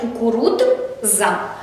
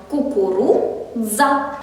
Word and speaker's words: кукурудза: При читанні цього слова ми можемо з вами зробити помилку, читаючи його коли складами, читаючи «кукурудза». Так робити не можна. Бачимо «дз», читаємо злитно. Кукурудза.